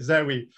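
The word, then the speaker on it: Zowe: so they had to stick a silent W in there to call it Zoe with a W to get around trademarking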